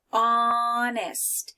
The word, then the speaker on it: honest: Okay, here it's important to be honest.